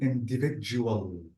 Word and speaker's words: individual: Let's try to say in, this is in, and notice that D-I-V-I-D, this is J, J. So it will be individual.